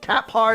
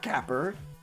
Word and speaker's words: Capar: Capar is his name. Is it Capper? Not Capper. Capar? Capar.